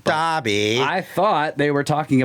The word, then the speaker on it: Derby: The English one is pronounced Darby. Darby.